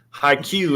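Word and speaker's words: ハイキュー: seven syllables five syllables high q is the japanese word for volleyball and this is this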